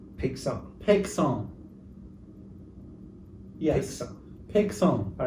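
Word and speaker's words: Paixhans: I think it's Pegson. Pegson.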